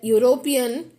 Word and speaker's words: European: there are examples like european which starts with e but the pronunciation is uh as if it starts with y we use a european